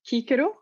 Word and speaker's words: Cicero: latin word is pronounced the classical latin where cicero would be pronounced kikiru ecclesiastical a latin that